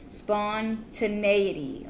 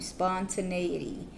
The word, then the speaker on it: spontaneity: Spontaneity. Okay, I've been saying it wrong the whole time. Spontaneity.